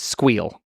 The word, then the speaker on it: SQL: By the way, pronounce SQL versus SQL. It's squeal. Squeal? You squeal. Squeal. That's what I think is the correct way.